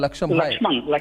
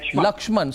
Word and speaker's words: Lakshman: caller today is laksham from Baroda from Baroda laksham lakshman sorry I got your name wrong how are you lakshman you're watching this